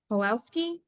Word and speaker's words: Pawelski: Pawelski? Did I say that right? Yeah, W is pronounced like a V.